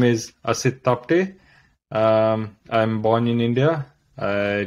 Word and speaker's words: Asit Tapte: I don't know if I pronounced in a good way your name. Yeah, it is Asit Tapte. Asit Tapte.